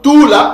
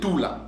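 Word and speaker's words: tula: d'accord donc tout là ce verbe là c'est prononcé tout là tout là qui veut dire mettre poser ou pendre parce que lorsque nous posons une personne sur un arbre à un arbre lorsque vous mettez une personne à un arbre vous la posez à un arbre ok cela signifie pendre parce que pendre poser maîre ce sont tous des verbes synonymes d'accord donc Cees verbes là c'est prononcé et se prononce tout là maintenant que euh nous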